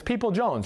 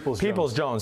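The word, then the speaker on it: Peoples-Jones: michigan receiver donovan is people jones right people's jones sorry i'm missing in one little syllable there so yes people's jones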